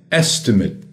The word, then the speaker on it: estimate: etc., em inglês é estimate. Estimate. Atenção à pronúncia. Estimate. Yeah, they upgraded their estimate. O verbo estimate. Percebeu a diferença de pronúncia? Substantivo, estimate. O verbo to estimate.